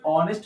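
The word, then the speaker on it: honest: उसके बाद देखो यहां पे भी फिर एच साइलेंट होते है यानी ऑनेस्ट man okay ऑनेस्ट मैन यानी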